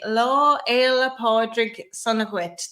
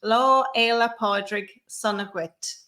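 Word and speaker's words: Lá Fhéile Pádraig sona dhuit: the curve next year you can say law ella podrick sonowitz that is how you say happy saint patrick's day in irish law ela podrick sonogwit and i will say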